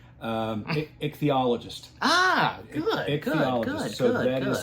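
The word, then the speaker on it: ichthyologist: simply because and I did get the correct pronunciation. Um eichthologist.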